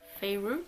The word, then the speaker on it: Feyre: Oui, c'est comme ça qu'ils le mettent à la fin qu'il faut le prononcer, donc Feyre, qui est pauvre, qui